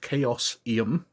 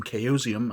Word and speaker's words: Chaosium: from chaosium now i've just learned that it's pronounced chaos iam rather than chaosium as i've been pronouncing it for many many